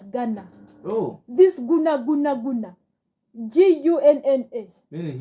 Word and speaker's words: Gunna: Yes, but Nedda, in this whole scenario of Young Thug, we've been telling you the YSL, the Oshmani Guna is pronounced as Ghana.